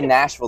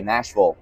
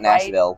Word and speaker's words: Nashville: nashvillian nashvillian yeah and I say Nashville the Right Way Nashville not Nashville don't say it wrong Nashville uh so music